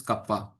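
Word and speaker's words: kappa: Basically see this is the conductivity and I am I am saying that this is pronounced as kapa.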